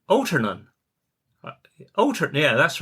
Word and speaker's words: Altarnun: Cornwall a few years ago now and they pronounced it they said, "Altarnun."